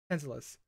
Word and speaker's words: Tantalus: Tantalus. I don't know, it's not TH, it's Tantalus.